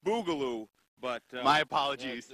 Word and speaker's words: Boogaloo: Now, Joel, I hear that you're going to teach us the Bugaloo. Yes, it's pronounced Boogaloo, but...